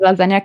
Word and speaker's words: lasagna: I didn't know that lasagna can move in silence. It's got a G in it that you don't pronounce.